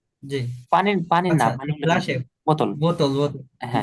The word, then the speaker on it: Koffer: der Kaffee, কফে না, কফার। Biscuit, কফার, কফার, এই যে এ আর থাকলে উচ্চারণটা হবে আয়ের মতো, আয়ের মতো, এই যে স্বরে আ।